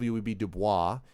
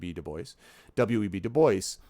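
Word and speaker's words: Du Bois: web deboy side note not web DUIs he wanted it Deo asked it to be pronounced web Deo web deoy um you know Booker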